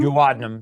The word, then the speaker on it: duodenum: Yeah, and actually a few years ago they found a polyp in my how do you pronounce it? Duodenum? Duodenum, yeah, duodenum.